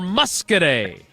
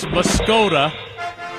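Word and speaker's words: Muscoda: I like to read it as muscod, but I think phonetically claims to. That is correct. Well done. Muskete is the correct answer.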